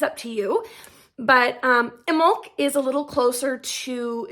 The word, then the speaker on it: Imbolc: little bit about pronunciation so I say it in milk it is spelled i-m-b-o-l-c so a lot of people will say in bulk I don't know that that's actually incorrect I